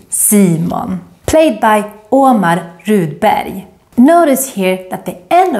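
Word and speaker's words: Rudberg: pronounce it like Barry in Swedish always when you see the combination RG you say more like a y sound barrier and if you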